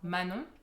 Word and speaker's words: Manon: are yes and so Manon is just like you're saying no but then ma in front of it um but yeah a